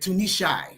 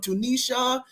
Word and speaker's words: Tunishi: I love the way you say my name. Dr. Tunishi. I love it. He pronounces every syllable. I love that. Thank you so much. You you don't know how many people just murder my name. I've been called everything from Tunisia to tuna fish to Oh my goodness.